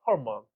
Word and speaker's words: hormone: 이게 르 발음이 제대로 들리면 안 돼요. hormone. 오케이? 약간 그런 느낌 좀 살려서.